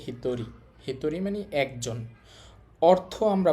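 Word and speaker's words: 一人: তাহলে নরমালি চিন্তা করলে এই শব্দের উচ্চারণ হওয়ার কথা। ইচিহিত। কিন্তু এটা ব্যতিক্রম। এটাই চিহিত হবে না। এটার উচ্চারণ হবে হিতরী।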